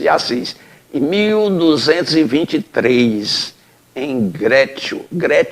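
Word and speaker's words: Greccio: Assis, em 1223, em Grécio, ou Grécio, porque se escreve com 2C, e diz que no italiano, quando tem 2C, tem um som de T, né?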